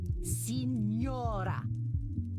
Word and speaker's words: Signora: Then say it properly. Signora. Say it.